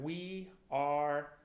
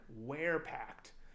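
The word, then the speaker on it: WearPact: apparel they are at we are I'm sorry not we are I've been saying it wrong the whole time we're packed so W e AR P AC t-dot-com we're packed check them out I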